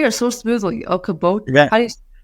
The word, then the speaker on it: Okoboji: They can find you at Okoboji. You say it so smoothly. Okoboji.